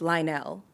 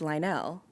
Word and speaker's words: Lionel: is a whole thing she did that it's Lionel. About Lionel Richie? Yeah, that he said that she everyone's mispronouncing his name, it's Lionel.